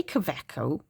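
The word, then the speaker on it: Kaweco: Um, so I know the W is normally pronounced with a V.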